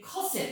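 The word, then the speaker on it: Cassatt: 이렇게 그냥 옮겼는데, 메리 커셋. 이게 정확한 영어 발음식으로는 커셋으로 하는 게 제일 그나마 발음대로 하는 그런 기억 표기법이 된다고 볼 수 있겠습니다.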